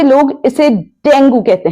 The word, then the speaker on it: dengue: अगर कोई इस बीमारी से पीड़ित है तो आप कहेंगे ही is suffering from dinghy, तो डेंगू नहीं, डेंगी।